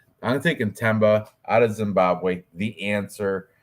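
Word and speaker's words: Themba: the and it's not thba with a th it's TBA the H is silent I'm taking TBA out of Zimbabwe the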